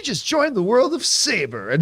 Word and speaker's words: Sabre: Also, they realize it's actually called Saber, even though they spell it Sabre.